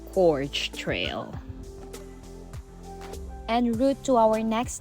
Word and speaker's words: Gorge Trail: the Finger Lake Trail back here to the George Trail. Okay. And by the way, it's pronounced Gorge Trail.